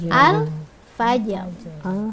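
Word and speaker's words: الفجر: Yang terakhir yaitu di ayat kelima ada lafaz alfajr. Alfajar. Nah, jadi cara membacanya begitu ya, Bu ya.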